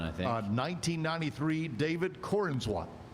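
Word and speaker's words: Corenswet: Uh 1993, David Corinsswat. Uhhuh. Is that how you say it? Corweat.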